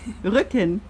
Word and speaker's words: Rücken: Rücken.